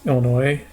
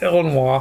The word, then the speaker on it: Illinois: Not pronouncing the S. Illinois. There's an S. I don't. Illinois. It's Illinois from now on.